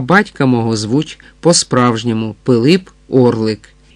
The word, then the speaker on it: Пилип: Григорій Орлик, старанно повторив гість, для правдоподібності все-таки зробивши наголос на останньому складі прізвища. Ну, нехай хоч би так, а батька мого звуть по-справжньому Пилип Орлик. Піліп Орлі Орлик?